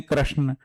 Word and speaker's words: कृष्ण: तो ये है, जैसे अब अंग्रेजी में बोलेंगे कृष्ण है, हम हिंदी में बोलेंगे कृष्ण, कृष्णा बोलेंगे तो हमारे दिमाग में पिक्चर बनेगा कोई लेडी है।